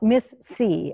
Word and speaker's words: MIS-C: we go okay okay so we're talking about miss c as it's as it's pronounced right um correct so what what is